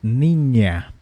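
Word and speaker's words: niña: aqui a mesma coisa temos Ninha NH iso se pronuncia como NH Ninha Ninha nesse caso posso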